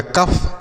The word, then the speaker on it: cough: COUGH, C से क हो गया, OUGH को अफ तो हो गया कफ, COUGH कफ।